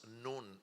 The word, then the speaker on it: Nun: The number 14 in the Bible is the 14th letter that says, that's a letter that is pronounced Nun, N-U-N, Nun.